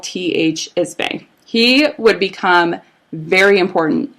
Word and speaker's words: Ismay: Ismay. He would become very important. He and his son would become very important into the story, just so you know. What's his name again? T.H. Ismay.